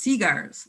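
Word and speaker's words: segar: but in those days spelled s-e-g-a-r and pronounced seaguars so they smoked seaguars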